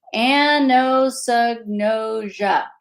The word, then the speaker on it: anosognosia: how many anos noia okay five syllables say it with me anosognosia anosia some survivors don't